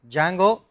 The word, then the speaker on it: Django: The most, the ones with, shall we say, most buzz are Django, spelt with a D, Django, or there is a later framework called Pyramid, there is a simple Web2Py.